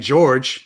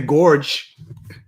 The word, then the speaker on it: George: But y'all don't have any problem saying George. Yeah. GIF, George. Same thing. You don't say Gorge. Thank you, Aaron. Do you pronounce the E in George? Like, you don't pronounce none of that.